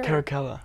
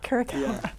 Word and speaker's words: Caracalla: What, Caracalla, is that the correct pronunciation of your character? Caracalla. Caracalla.